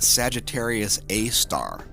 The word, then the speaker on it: Sagittarius A*: talking about by the way this is pronounced Sagittarius a star and it's SGR space a asterisk is the proper way to write the nomenclature the galactic core of